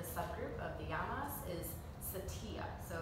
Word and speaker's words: satya: All right, the second one under the subgroup of the yamas is satya. So it's pronounced S-A-T-I-A, satya.